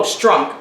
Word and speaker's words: Strunk: William Stunk Jr. and Ibu. I didn't know his name. Oh, Strunk.